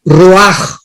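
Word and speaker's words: רוח: espíritu es la palabra Roach con ch porque la ch en el hebreo se pronuncia como J raj entonces etimológicamente la raíz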